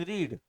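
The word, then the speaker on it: read: Pages after pages have been रीड।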